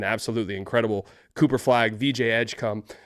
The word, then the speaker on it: Edgecombe: Cooper flag, VJ Edgecom. Uh, and that is how you say his name and I can't get over that.